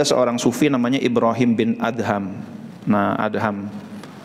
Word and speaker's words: Adham: Ada yang membaca Ibrahim bin Adom karena DH dianggapnya dhad gitu. Ibrahim bin Adam, idom Khalid gitu ya. Gara-garanya dha = d gitu. Jadi setiap yang dha dibacanya do sama dia.